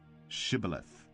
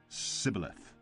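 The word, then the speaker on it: Shibboleth: When he said, "No," they said to him, "Then say Shibth." and he said cibilith for he could not pronounce it right.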